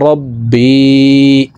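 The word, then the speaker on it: رَبِّي: আংতা রব্বি, আল্লাহুম্মা আংতা রব্বি। বি এখানে এক আলিফ টান, জিরের বাম পাশে জজমালাইয়া মদর হরফ, ডান দিকের হরকতকে এক আলিফ টানিয়া পড়িতে হয়।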